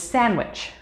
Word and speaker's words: sandwich: in acquire or black d the letter d is silent when we see it in combination with j or g for example adjective bridge or edge however it is also silent in some other words such as sandwich or wednesday e we have talked